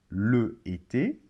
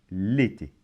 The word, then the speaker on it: l'été: apostrophe alors on va pas dire par exemple le été mais on va dire l'été donc comment ça se prononce à se prononce comme si dans l'été